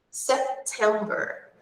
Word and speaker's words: September: So, aqui nessa palavra, como nas outras, é a sílaba do meio. September, September.